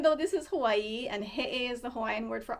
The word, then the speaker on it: he'e: The okina represents what they call an epiglottal stop. So that's why it sounds like that.